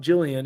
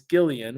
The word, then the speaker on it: Gillian: It's not Jillian, it's Gillian. We remember that. It's a hard G.